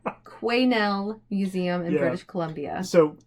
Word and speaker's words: Quesnel: I did Google it and listen to a pronunciation, and it said Quesnel Museum in British Columbia.